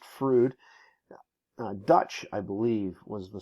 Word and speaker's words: Froude: bit earlier it's spelled it looks like Froude it's as far as I know it's pronounced frood Dutch I believe was